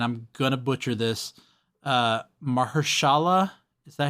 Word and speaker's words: Mahershala: He is voiced by, and I'm going to butcher this, Mahershala, is that how you pronounce his name?